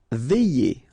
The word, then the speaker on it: veiller: Veiller. Okay, remember when you get this I, double L, and then here it's E, Y.